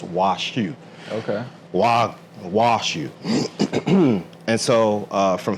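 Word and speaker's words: 和牛: So it's actually, they call it Wagyu everywhere, but it's actually pronounced in Japan as washu.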